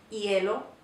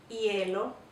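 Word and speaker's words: hielo: to watch out for Yello Yello this H is silent and the I and E are together and they make a slightly different sound it's kind of difficult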